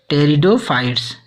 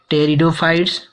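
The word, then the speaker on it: pteridophytes: उसी तरह से नेक्स्ट में हम बात करेंगे ऐसे शब्द जिनमें पीटी का प्रारंभिक लेटर स्टार्ट होता हो तो लेकिन उसे हम पढ़ेंगे टी शब्द से प्रोनाउंसिएट करेंगे। जैसे टेरिडोफाइट्स, न कि पी शब्द से प्रोनाउंसिएट करेंगे, इसे हम टी शब्द से प्रोनाउंसिएट करते हैं।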